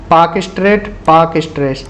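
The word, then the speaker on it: Palk Strait: जैसे भारत और श्रीलंका के बीच में है पाक स्ट्रेट, PAL के पाक स्ट्रेट। यहाँ पूछा गया है name the स्ट्रेट between India and Sri Lanka, तो पाक स्ट्रेट इसका करेक्ट आंसर है। PAL के, L साइलेंट है।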